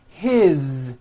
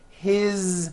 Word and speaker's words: his: you hear that is his same thing it also has a voiced Z ending his mom is Mary as